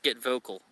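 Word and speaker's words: Get Vokl: Okay, it's pronounced Get Vocal.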